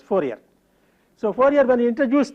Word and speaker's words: Fourier: The French probably pronounce his name as Fourier, but in common with the usage in English speaking countries, we refer to him as Fourier.